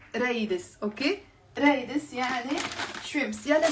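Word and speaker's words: قريدس: He wrote kraides. Yes, it's written as kraides بالفصحى ق. Okay, but in Lebanon we don't pronounce the qaf. We don't pronounce the qaf. We say raides.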